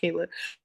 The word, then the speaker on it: Kyla: Like, oh my god, it's pronounced Kayla. But it is spelled like Kyla, so that is no one's fault.